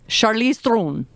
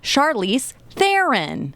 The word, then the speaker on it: Charlize Theron: I think when she says it it's real fast it's like Charlize Throne Charlize Throne I'm like wow I can barely even so I you know but she is very accepting of the Americanized pronunciation of Charlize Theron which is what normally we hear anyway sorry go ahead Liz